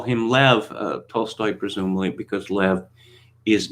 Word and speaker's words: Lev: you know is wrong is actually lev tolstoy and of course i'm not probably it's probably left like that you know russian is